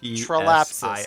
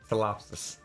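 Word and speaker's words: ptilopsis: Trolapsus, got it. Telopsis. Trolapsus, that's it. Telopsis. Trolapsus. Telopsis. Trolapsus. The P is silent. Because birds don't pee.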